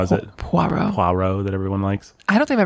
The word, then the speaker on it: Poirot: tried to kill Poirot off once.